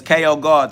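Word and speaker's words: KO GhOD: So yeah, it's KO God. The H is silent, just like in Ghost. Holy Ghost, Holy God. I spell God like you spell ghost.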